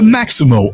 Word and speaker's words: Maxymo: The Maximo app, which is spelled Maxymo, it helps Uber, Lyft,